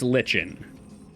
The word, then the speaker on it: lichen: I think you might be the first person to have ever tricked me to properly pronounce something, because I didn't understand what you were saying. Like N. Yeah, no, it's lichen.